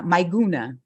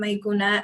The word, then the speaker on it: Meguna: i mispronounced your name uh myguna is that yes it's correct okay um hello for everyone i'm meguna and i'm from the